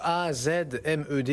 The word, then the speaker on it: AZmed: Avec ce soir Azmed avec nous, A-Z-M-E-D, est-ce que je prononce bien d'ailleurs? Julien, bonsoir. Bonsoir. Azmed, oui. Azmed ou Azmed, comme vous voulez.